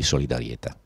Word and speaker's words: solidarietà: verso l'Africa perché solidarietà sulla nostra locandina si legge solidarieta senza l'accento come sappiamo nella lingua suili e nella lingua anglosassone non c'è l'accento per cui ci stiamo orientando sempre di più a parlare e a inserirci nella cultura africana quindi solidarietà solidarietà il titolo del libro